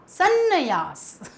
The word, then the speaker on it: संन्यास: संन्यास, संन्यास, संन्यास या सन्यास। तो ये तो आपको उच्चारण से ही गलत लग रहा होगा। तो यहाँ पर सही शब्द क्या है? देखिए 2 बार ना का उच्चारण सुनाई दे रहा है, संन्यास।